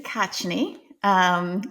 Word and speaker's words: Khachane: So Khachane is how you say the last name.